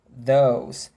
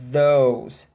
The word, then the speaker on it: those: Todos os indicativos, por exemplo, do inglês, eles usam esse mesmo TH, né? Este, esta, aquele, aqueles, aquelas, esses, essas, em inglês. This, these, that, those. É tudo, ó, travado.